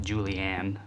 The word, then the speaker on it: julienne: other one the other very fancy name julienne but you can just pronounce it julianne like i do and you'll be okay too essentially there's just strips